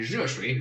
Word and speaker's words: 热: How do I make it easier? You make it into Asia. See, focus on the end, Asia. Put a 4th tone on that.